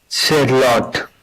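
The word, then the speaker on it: Shalott: Shallot. That's it. Good. Okay, that's the ot. It's important because then it rhymes.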